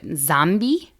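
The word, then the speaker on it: Nzambi: The word zombie is related to the African word zambi, which has an N in front of it. Sounds like I just said zombie twice, but there's a silent N.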